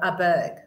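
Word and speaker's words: Åberg: That he pronounces it Aberg. Aberg. The little A, the little S thing on the top of the A is that it's an Aberg.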